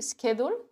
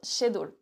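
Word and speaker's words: schedule: doit prononcer sched Shad est-ce qu'on prononce SK ou che j'ai entendu des personnes prononcer skedle et d'autres shadle et quand c'est moi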